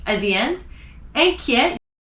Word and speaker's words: inquiet: Inquiet, at the end of the word, you don't pronounce it.